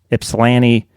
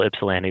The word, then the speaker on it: Ypsilanti: Places like Ypsilanti, Livonia. Mm-hmm. Good pronunciation there on Ypsilanti, by the way.